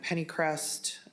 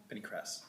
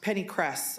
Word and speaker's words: pennycress: We talked about winter camelina and pennycrest. Is that what it's called? Pennycress. Pennycress, excuse me. I know, I think I always say it wrong.